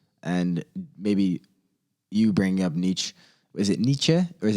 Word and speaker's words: Nietzsche: We talked about meaning and purpose, and people lacking maybe this purpose, and maybe you bringing up Nietzsche.